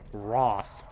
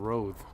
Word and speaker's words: Wrath: Thank you for pronouncing it. Wrath. Kept saying Roth.